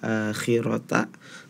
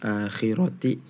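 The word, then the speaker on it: الآخرة: ya di surah al-lail yang seharusnya akhirota tapi tadi dibacanya oleh Syifa akhiroti itu juga harus diperhatikan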